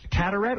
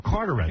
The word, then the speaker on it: Carteret: Well, Hank will be appearing at Charlie's Angels in Catarette or Carterette. I think cataract cuz it's spelled C A T here. It's Carter. Carterette, New Jersey. Yeah, not Catarette.